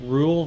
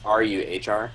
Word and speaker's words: Ruhr: So we can either do Ruhr Valley Can or we could do you Strongbox plus pronounce Lightbreaker Bay. Rule Valley again? It's Ruhr.